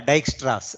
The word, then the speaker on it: Dijkstra: I think J in most of Europe, J is sort of pronounced as Y, right? So yeah, that is yeah, we usually get it, right? So yeah, Dijkstra's, right? DIY, something like that, almost, right?